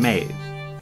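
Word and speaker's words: Medb: against the Kings ex-wife Queen made spelled like that because Irish and the Morrigan is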